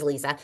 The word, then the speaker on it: Liisa: It's spelled Liza, L I Z E, but she's Lisa. Lisa Adams.